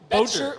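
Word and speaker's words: Boettcher: The Indianapolis Colts have selected Bryce Bocher. Bocher Bcher from Oregon. You bet your butt. That's how you pronounce it.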